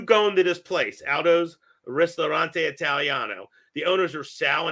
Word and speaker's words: Ristorante: Now, is that the pronunciation? Aldo's Ristorante Italiano? Yeah, Ristorante.